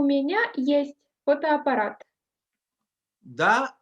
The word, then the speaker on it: есть: Да, есть, for example. Okay. Do you have a computer? У вас есть компьютер? Only есть. Есть. Okay, not ist. Есть. Есть. Да, есть.